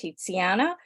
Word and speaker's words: Tiziana: My name is pronounced Tiziana.